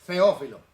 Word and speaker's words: Teófilo: Porque en el griego La T. lo que nosotros usamos como T, por ejemplo, Teo, en realidad, porque se escribe con TH, ¿eh? Pero cuando tú vas al griego, mira, feo, una Z. Entonces en realidad debería ser Sí. Feófilo. La Z en griego, sí.